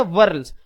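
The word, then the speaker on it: whorls: बच्चों ज़हन में रखिए यहां पे एच जो है वो साइलेंट हो जाएगा और आप इसको डब्ल्यू ओ आर एल एस वर्ल्स इस ये प्रोनाउंस करेंगे। ठीक है? जिस तरह आप पढ़ते हैं ना पर्ल। ठीक है? पर्ल कहते हैं मोती को। बच्चों इसी तरह वर्ल आपने इसे पढ़ना है।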